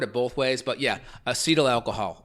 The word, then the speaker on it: acetaldehyde: I think how you pronounce I think how you pronounce it is acetaldehyde.